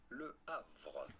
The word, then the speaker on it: Le Havre: In France, we would say it as Le Havre. He plays for a team called Le Havre.